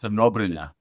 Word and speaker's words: Crnobrnja: It's pronounced Crnobrnja.